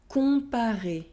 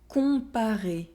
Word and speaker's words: Comparer: Remember to nasalize the sound on and not to pronounce the N or M. Non. Non. Citron. Citron. Profond. Profond. Complet. Complet. Comparer. Comparer.